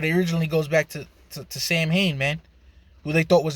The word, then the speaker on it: Samhain: um yeah eso get mad actually actually it's pronounced samhain you know all right my fault calm down